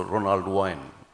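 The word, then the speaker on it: Ronald Wayne: guy called Ronald Wine, or how do you pronounce it, Tim? So Ronald Wine.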